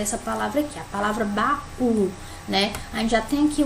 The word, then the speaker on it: baú: primeiramente uma mulher essa palavra que a palavra baú né aí já tem que o acentuado que